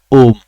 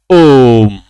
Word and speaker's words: ओम: इस शब्द का जो उच्चारण होगा वो होगा ओम। क्या होगा, ओम। हमने यहां क्या किया है भैया, हमने यहां ओ का उच्चारण लंबा किया, ओ का उच्चारण क्या किया, लंबा किया। हमने ओम नहीं कहा, हमने कहा ओम, ओ को लंबा खींचा।